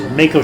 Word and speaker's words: Mako: that restore HP or Macko shards Mako shards pardon me that restore Mt I believe the correct pronunciation is Mako but I've been watching